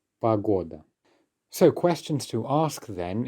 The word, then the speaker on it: погода: weather in russian well that will be pagoda pagoda unstressed or at the start gives us pagoda so questions to ask